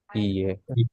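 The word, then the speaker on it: いいえ: Iye. Hi, Hai. Iye. e. Iye. This is a long E sound.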